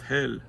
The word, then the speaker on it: Helle: heli yes I know they say no it's pronounced hell okay well that does it doesn't sound good